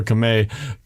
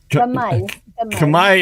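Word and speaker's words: Camay: I don't know if they pronounce it Kamay or Kame. Kamay in the Philippines. In in the United States, we would say Kame, but Kamay Soap.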